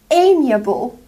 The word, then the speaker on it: amiable: ambiguous the next one amiable amiable a me uh ball amiable an amiable person is